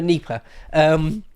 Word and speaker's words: Dnieper: around the river Dnieper, I think the D is silent, right, on the river Dnieper, which is exactly where this conflict is now, right?